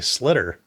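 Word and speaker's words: sliotar: So this is called a slitter.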